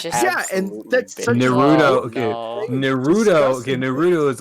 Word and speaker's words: Naruto: fine whatever either way that is very common for uh english speakers to stress the second syllable whereas in japanese they stress the first syllable however they do do it very subtly which is why um it's misconstrued to the second syllable when people say naruto that sounds very deadpan